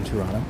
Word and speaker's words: Toronto: I'm a tour guide in TOURonno. The reason why my name is TOURonno is because in Canada, in Toronto specifically, we do not pronounce the second T.